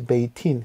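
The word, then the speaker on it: بَيْتٍ: Okay, and an additional noon sound is pronounced but not written at the end of the words. So if we look, go back to these words that we did before, is baytin.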